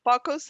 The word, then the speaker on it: focus: that but then for Focus how you say focus is a long o like you say oh like no it's okay yes do